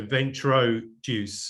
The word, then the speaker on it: Ventroduce: that's vent venture juice that's like venture and introduce right well yeah so it is it is the uh the combination of those words but it's spelt uh v e n t r o d u c e uh dot com so ventro juice um yeah yeah perfect perfect